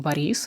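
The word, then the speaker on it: Борис: If your name is Boris, well, there is Russian name Boris, which also just pronounced a little bit different.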